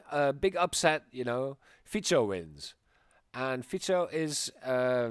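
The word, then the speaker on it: Fico: so um the elections were won by Robert fito right now I'm saying it right yep um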